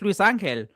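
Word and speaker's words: Luisangel: It's just Luis Angel. But like when you first see it, you're like, what are all these letters together? Yeah, it's like, how do you say it? It's like Luis Angel, but it's just together.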